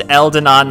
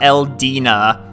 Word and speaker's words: Eldena: Today I learned Eldena is pronounced Eldena, not Eldina.